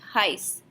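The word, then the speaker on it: heiße: hyson and V heist so you don't hear the difference between an S and an S Tet to respond to say my name is you're going to say hice if Tyson so that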